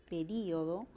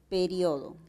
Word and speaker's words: período: Por ejemplo, la palabra período, período, también puede ser pronunciada como periodo.